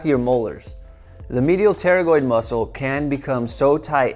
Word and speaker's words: pterygoid: muscle inside here called the medial pterygoid, spelled with a P, so it looks weird.